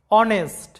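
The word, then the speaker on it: honest: এইচ এর কোন উচ্চারণ নাই এইচ এর উচ্চারণটা সাইলেন্ট আছে অনেস্ট যেটার বাংলা অর্থটা হচ্ছে সৎ এরপর দেখো অনার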